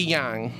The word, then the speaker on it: yang: Ryan says, "The one the way one pronounces yang difference sometimes. The one you may hear the most would be the American English way of that rhymes with bang." So it' be yang.